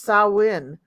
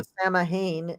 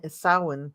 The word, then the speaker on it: Samhain: it makes sense in the way that it's pronounced sawin not you know sah Hayne sawin yeah yeah and Connie B Connie B black